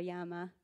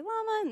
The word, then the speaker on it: llama: or a la or a Yama or a llama um but in English we say we say llama and everyone listening is listening in English so but yeah I've heard it pronounced both ways yeah yeah any other